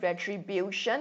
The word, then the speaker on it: retribution: extension retribution why bill because retribution has got four syllables you stress on the second last which is bill okay so retribution television